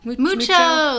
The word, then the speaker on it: Moocho: Mucho? Mucho.